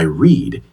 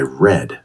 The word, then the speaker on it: read: Yes, the spelling is exactly the same, but the pronunciation changes. Today I read. Yesterday I read.